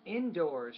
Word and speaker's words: indoors: indoors yeah indoors indoors indoors stress on the second syllable I think not the first and it's no longer